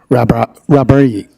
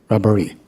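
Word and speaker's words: Rahbari: So it's R-A-H-B-A-R-I, Rabari. Okay, Rabari. Okay.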